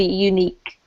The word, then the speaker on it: unique: But because we pronounce it like a Y, it's almost as if it was like this. Unique.